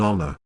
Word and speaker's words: honor: NB, H is silent in honor, heir, honor, and the words derived from them.